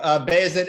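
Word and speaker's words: Bayezid: yeah so um so basic and gem is is is how the name is pronounced uh are the the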